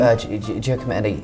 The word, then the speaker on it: Giacometti: Well, they're kind of like, who's the Italian sculptor with very thin, Giacometti, or what's his name? Giacometti, yes. Yeah, they're kind of like, because I might not be because they're all pronouncing it very, correctly.